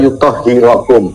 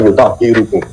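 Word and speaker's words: yuṭahhirakum: Innama yuridullahu liyudhiba ankum rijsa ahlal baiti wa yutahhirakum. Beliau membacanya wa yutahhirukum. Salah dalam membaca. Wa yutahhirakum tadhira. Berarti yang belepotan siapa? Lalu jadi dalam pembacaannya ada yang keliru ya, Pak ya, dia membaca yutahhirakum dibaca yutahhirukum.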